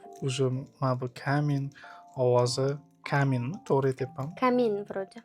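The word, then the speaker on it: камин: Вот man hozir o'tirib уже mana bu kamin ovozi kaminmi to'g'ri aytyapmanmi? Kamin вроде. Kamin на и ударение.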